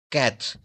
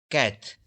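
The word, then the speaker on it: quatre: Cat. Four. Cat.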